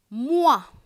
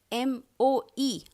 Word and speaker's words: moi: Every time you see this combination O, E, it is pronounced as wa. You might have heard trois, number 3, trois. Moi, roi. M-O-I, moi.